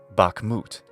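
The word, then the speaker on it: Bakhmut: the same name and is still stressed on the final syllable hence Bak moot another well-known City in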